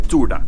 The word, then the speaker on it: Turda: We We are in Salina Turda. I think at least you pronounce it Turda, not Turda, but I'm not sure.